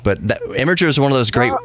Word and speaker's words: Imgur: is just a troll he knows that it's pronounced gift but the imager is one of those great great websites go